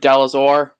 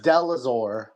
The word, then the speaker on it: Delazor: What's good, Dalazor? Oh, it's Delazor. My bad. Yeah. I thought it was Delas or. Oh, I did say it right. Delazor. Okay, so it's Delazor.